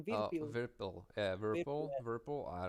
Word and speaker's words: Virpil: Virpil.